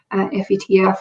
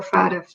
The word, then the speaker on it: FATF: Now, globally, there's an agency called the Financial Action Task Force, FATF or FATF, depending on how you like to pronounce it.